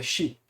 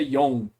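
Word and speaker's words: 四: Então, que é Shi. Né? Tanto é que a pronúncia que eles usam normalmente é Yon.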